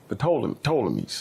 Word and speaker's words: Ptolemies: Usually people say Ptolemies. Ptolemies. Ptolemies? They don't usually pronounce the P. Okay, Ptolemies.